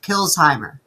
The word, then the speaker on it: Kilsheimer: If you pretend the S is a Z, you say it correctly. Kilsheimer. Kilsheimer? Yeah, Kilsheimer. Kilsheimer. Okay. Yeah. Separate it between the S and the H, and you'll say it.